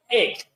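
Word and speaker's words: ἐκ: El número que corresponde a entre los 7 es G1537, que es el griego 1537, que en el griego se pronuncia ek.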